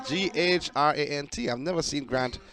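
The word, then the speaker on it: Ghrant: a grant is spelled g-h-r-a-n-t I've never seen Grant spelled like that before so not g-r-a-n-t like oh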